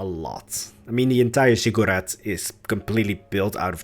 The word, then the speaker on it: ziggurat: So I'm really heavily pronouncing the U part. Ziggurat.